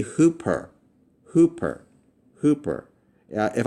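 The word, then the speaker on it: ὑπέρ: the rough breathing mark, the rough breathing mark is pronounced. So if you see this over a letter, this is pronounced "ha". Ha. There is an h sound that's added with the smooth breathing mark. So if I were to pronounce this right here, this would be "hoop-er" (means: "above") "Hoop-er."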